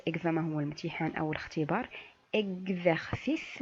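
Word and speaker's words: exercice: اكزرسيس ماشي اكسرسيس. كنقولوا اكزرسيس اللي هو الاكزرسيس تمرين.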